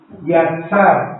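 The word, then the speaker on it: יצר: es la cuarta yar lo voy a deletrear y griega a t s a r yatsar con acento en la última a Y esta es la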